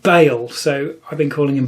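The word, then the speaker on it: Baal: um out loud and it seems to be pronounced Bale so I've been calling him ball thinking it was ball and that's difficult to say apparent it's Bale I'm going to stick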